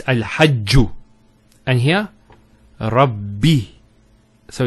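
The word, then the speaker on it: رَبِّ: The first ba takes a sukoon. And the second take say kasra. So it's Rabbi.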